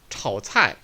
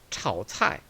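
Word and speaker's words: 炒菜: 炒菜, 炒菜. 삼성은 단독으로 과장되게 발음하는 경우를 제외하고는 반삼성으로 발음된다고 그랬습니다.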